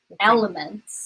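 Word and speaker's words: LMNT: I really love them it's called oh you can't see it elements so it's spelled l m NT and they they have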